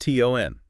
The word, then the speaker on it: TON: It's not to N. No, it's pronounced as one word. Ton like a ton of bricks rhymes with fun.